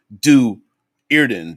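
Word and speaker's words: Do'Urden: the hard t deweyrden since there is a comma in du erden this usually indicates the separation of the word hence do irden there was a pronunciation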